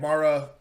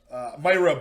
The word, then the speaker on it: Mayra: i believe his name is pronounced josh quinlan and mara mayra buenos silva so myra bueno silva josh quinlan zac palga